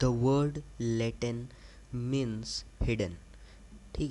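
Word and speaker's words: latent: का मतलब होता है लेटें टी साइलेंट होता है यहां पे ठीक है लेटन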